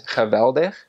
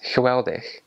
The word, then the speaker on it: geweldig: And that W is pronounced as a V, but a Belgian pronounces it like a W. So where a Dutch person says geweldig, a Belgian says geweldig.